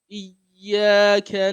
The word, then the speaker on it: iyyaka: So you oftentimes a lot of people do not pronounce the shadow of the iyyaka very well. So and you have to follow the rule of tashdid that we talked about last week.